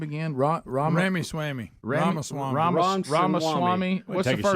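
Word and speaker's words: Ramaswamy: Ram Ramy Swami Ramwami Ramaswami. What's the first name? VC Ramaswami.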